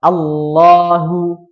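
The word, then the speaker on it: الله: Nah, tapi kalau di sini enggak ada huruf yang mendahului yang berharakat kasrah, maka dia dibacanya tebal lamnya ya. Baik. Coba kita praktikkan. Allahu Allahu Allahu tidak memangkan bibir.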